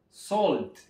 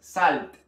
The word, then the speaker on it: salt: de esta manera y se pronuncia sold sold no vaya a caer en la tentación de pronunciarlo con a porque no es Salt y recuerden hacer énfasis en la t es muy importante ver